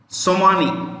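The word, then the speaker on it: somoni: immorally romanov the v in the end is pronounced with an f and the currency of tajikistan is somani s o m o n i i repeat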